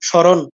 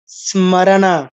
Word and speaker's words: স্মরণ: এর সাথে ম যুক্ত বাংলায় কি বলি স্মরণ ম কোথায় গেল ম বেহুশ হয়ে গেছে ম এক একদম হারিয়ে গেছে নাই বাংলায় বলি স্মরণ কিন্তু সংস্কৃত উচ্চারণ কি হবে স্মারানা স্মারানা স্মা তারপরে পরেরটা দেখুন তিনটা